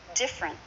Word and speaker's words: different: different words and phrases different two syllables not different but different say that with me